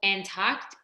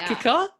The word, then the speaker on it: Antarctica: which that people in America call Antarctica.